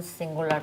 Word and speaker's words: singular: And third, person singular present. Singular. Singular. It's got a Y, like university.